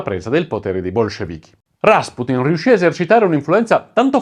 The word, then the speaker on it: Rasputin: la figura di Grigori Rasputin, la sua pronuncia in russo, ma io lo chiamerò Rasputin durante tutto il video perché ormai è rimasto famoso così dalla canzone dei Boney M degli anni '80, esercita un fascino intramontabile